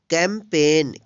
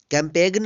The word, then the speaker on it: campaign: CAMPAIGN, इसको पढ़ेंगे कैंपेन। कैंपेन means अभियान। कैंपेगन नहीं पढ़ेंगे, क्यों, क्योंकि एन से पहले जी है, यहाँ पे जी साइलेंट है।